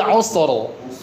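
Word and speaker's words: عُسْرَ: Ee usro usro ur bukan usr tapi usro ya.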